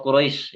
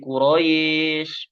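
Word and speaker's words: قريش: huruf ya yang sukun Huruf ya yang sukun itu bacaannya dieringai Ya seperti bacanya kasr kalau wau pasti dimanyunin ya kalau huruf ya kasrah menyeringai ya misalkan sekarang di surah alquraisy surah Quraisy ya liilfi Qurais Qurais enggak boleh jadi Quraisy Quraisy jadi imalah jadi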